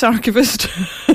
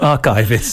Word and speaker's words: archivist: Archavist. Not archivist. No, no, no, no. It is archavist.